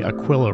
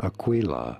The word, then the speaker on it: Aquila: I got so many comments I was somehow pronouncing Aquilla wrong Aquilla Aquilla Aquilla Aquilla Aquilla Aquilla right anyway it's